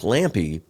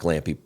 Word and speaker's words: Lampe: And again, like Lampe, and it is kind of sad that Brock Lampe pronounces his name Lampe and not Lamp.